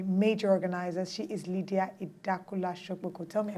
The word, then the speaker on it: Idakula: one of the major organizers she is Lydia idakula sh tell me I pronounce that right you did y well done